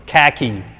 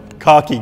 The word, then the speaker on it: khaki: It is now Innozotech khaki green, or khaki green, as you Americans say it. But this is a British car, so it's khaki green, right?